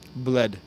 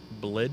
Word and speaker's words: Bled: would you find Lake Bled? Lake what? Bled. Blid? Can you Bled. spell that?